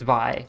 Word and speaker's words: Vi: I'm just gonna get confused about the pronunciation from now on, because yeah, the arcane character's name is spelt the same way, but it's Vi.